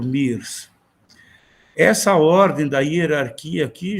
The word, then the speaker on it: Myers: Alguns pronunciam Myers, né? Mas ele não era americano, eu acho. Eu sempre conheci por Mears.